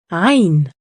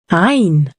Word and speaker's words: عين: The sound comes from a very deep part in the throat. Let's practice it together. عين. Repeat after me. عين.